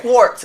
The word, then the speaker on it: Quart: oh you remember it quart like quarter cuz that's how my mother pronounces my name I don't know why